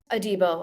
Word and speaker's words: Adebo: I like what we did in the secondary with Holland and I think is Adebo. Is that how you pronounce it, guys? Adebo.